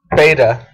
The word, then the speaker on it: Beta: name it says beta that's how you pronounce it beta like a beta test which I am